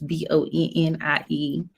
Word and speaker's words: Bonnie Boucher: I'm on Facebook, Bonnie Boucher, and it's BonnieBooshea.